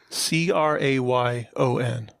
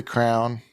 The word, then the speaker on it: crayon: reminded me of something how do you guys pronounce this word c-r-a-y-o-n i say crown what do you say crown crayon well the reason i